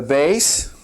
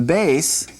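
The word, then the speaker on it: ב: The base we know has the B sound with the dogish in it. All right, let's go on to the next one down. They say, "What do you have in Hebrew that corresponds to the English V?" Well, this would be two letters. The vav or it could be the bass without the dogish. Without the doggish, it would be a v sound.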